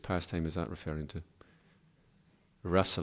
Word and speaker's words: rasa: he creates the whole rasa lila. So that's the pinnacle of rasa. The rasa lila, it's got a long A. Rasa with a short A refers to our emotional connection with Krishna.